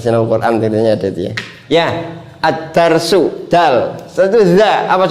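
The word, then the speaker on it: الدرس: Contohnya, contohnya addarsu. Ah, addarsu ah. Addarsu. Adarsu bukan aldarsu, Pak. Ya, ini memang harus dicermati jangan sampai membacanya aldarsu.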